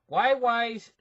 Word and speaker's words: Huawei: I think you actually pronounce it Huawei's chief financial officer.